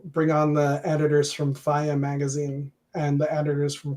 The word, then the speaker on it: FIYAH: Faya, absolutely. FIYAH exclamation point is how you spell it.